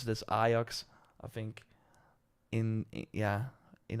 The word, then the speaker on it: Ajax: the Amsterdam I I say it's like we pronounce it as aox I think in yeah in other countries would like Ajax not what it is do I support them